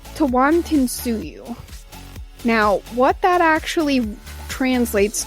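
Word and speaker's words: Tawantinsuyu: about a moment ago the name for the empire is actually oh it's a lot of syllables okay um okay so it's tewan tinsuyu now what that actually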